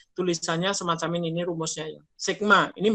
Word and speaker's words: sigma: Ya, itu namanya sigma, bacanya sigma.